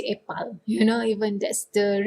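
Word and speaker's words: epal: we have juice apple apple in malay is a pal that's how we pronounce it yep pal but when we speak is so weird to say a pal you know even that's the real pronunciation if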